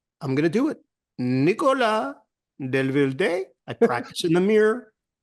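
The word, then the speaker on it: Nicolas Devilder: I ask everybody in Paris, basically, how do you say this? And everyone says, well, it's Nicolas Delvilde. I said, there's a question mark at the end. They're like, oh, Delvilde. I said, okay, I'm going to do it.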